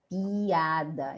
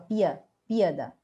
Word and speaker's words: piada: uma pausa tão vendo ó piada Eu não falo P pada pada não falo piada